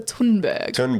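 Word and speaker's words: Thunberg: uh quotes from Greta thundberg is it thundberg or you pronounce it differently I don't know I think when you say it in like a Swedish accent it's like Greta tundberg um You Say Nothing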